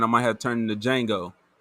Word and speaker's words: Django: might have turned into django the d is silent no no blue suit